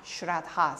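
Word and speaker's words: śraddhā: esta palabra fe es un término en sánscrito que es trabajar grad house se pronuncia con acento en la a final aparentemente esta es la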